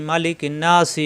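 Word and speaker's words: مَلِكِ: তাজদি অজিব গুন্না মালিকিন আমরা কিন্তু মালিকিন্ন নাসি এভাবে পড়ি এরকম পড়া যাবে না কারণ মা টান নাই মালিকিন হরকতের উচ্চারণ তাড়াতাড়ি এক জবর এক জরের এক পাশে হরত বলা হয় হরকতের উচ্চারণ তাড়াতাড়ি করতে কোন দেরি করা যাবে না তাহলে মালিকিন এই নুনে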